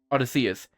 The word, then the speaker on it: Odysseus: Sorry for any pronunciation problems right here, but it's Odyssey. Odysseus. There we go. Odysseus.